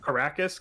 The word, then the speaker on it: Karrakis: Caracas, Karrakis. It's literally Arrakis with a K at the beginning.